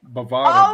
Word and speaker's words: Bovada: Hold on, how good of friends can you be if you're still pronouncing it Bovita? Bovada. Oh my God, Bovita.